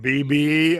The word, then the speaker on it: Beebe: BB, Arkansas. Yeah. All right, cool. I got it now. It's crazy. It's spelled like Don Beebe, Oh, so yeah, so